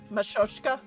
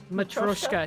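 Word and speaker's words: matryoshka: Machoska. Matroska.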